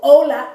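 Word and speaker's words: hola: say that's consistent but in Spanish it's never pronounced never okay so so Ola h o l a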